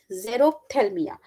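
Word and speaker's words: xerophthalmia: on to the deficiency which is known as zero Thelma okay what it is pronounced as zerothalmia so you know Xerox thermia is nothing it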